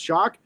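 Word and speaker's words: Shough: uh and some of his other quarterbacks Tyler shock it's spelled s h u g but pronounced shock he's six fo four and 78 224 pounds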